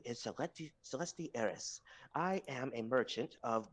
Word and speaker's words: Celestis: Celestis. Yes, the S is silent.